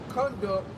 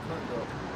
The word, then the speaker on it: conduct: It said to lead, guide, direct, to lead through, conduct to something, to move, not conduct. Conduct conduct to it's spelled the same, but it's pronounced different pertaining to the meaning and the context.